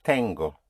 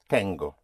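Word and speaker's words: tengo: I have in Spanish is tango. Tango. It's almost like the tango which one dances in Argentina but it is spelled with t e n g o tango.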